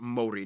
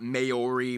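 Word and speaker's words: Māori: Yes, by the way, it's pronounced Maori, not Maori, Maori.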